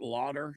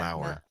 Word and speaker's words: Lauer: Matt Lauder? Is that how you pronounce his last name? Lauder. Or from NBC. Yeah. Lauer.